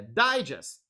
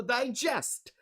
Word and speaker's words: digest: correctly how to read the first word let's see okay any ideas which syllable is stressed it's desert is it